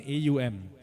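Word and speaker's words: ॐ: has almost an OM I want you to see it as om as an AUM three different vibrations uh you activate all of the energy centers in your body when you chant um three syllables represents Brahma vishnuar Mahesh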